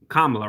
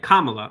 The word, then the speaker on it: Kamala: He just basically saying that he basically just used a Trump talking point saying Kamala Harris is just a radical left and Amy